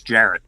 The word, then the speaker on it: Jarrett: It's Jarrett, by the way, just so you know. Oh, I just pronounced it with a hard G.